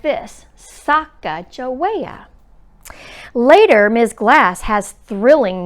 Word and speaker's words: Sacagawea: She has a fancy name, Sacagawea. You say it like this, Sacagawea.